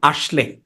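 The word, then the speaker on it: Asle: হ্যাঁ, আর এই সেপ্টোলজির মেইন যে ক্যারেক্টার ওনার নাম হচ্ছে আশলে। হ্যাঁ, মানে নরওয়েজিয়ান উচ্চারণে আসলে বলে।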